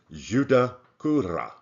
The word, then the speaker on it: Judaculla: It is the Anglicization of the Itza Creek word that in English would look like Sutakura, but they're pronounced Judaculla, because Muskogeans rolled the R's so hard that they were written down as A's.